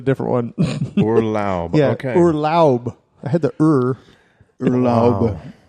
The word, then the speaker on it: Urlaub: Oh, actually, I said it wrong. Dang it. See? It's Urlaub.